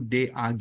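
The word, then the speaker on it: דג: Nah, di sini ada semacam kayak H, tapi sebenarnya itu diabaikan aja karena mungkin dari sisi pengucapan aja. Tapi yang lebih pasnya itu DAG atau duck gitu ya, yang artinya fish atau ikan.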